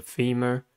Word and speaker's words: femur: Femur has two syllables and the stress is at the first one. The first syllable is fi. E, the second sound of a e. The second syllable is mer. U controlled by R.